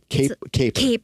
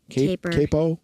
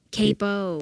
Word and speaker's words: capo: But that caper caper capo capo capo it sounds like sorry musician syllables when I'm trying.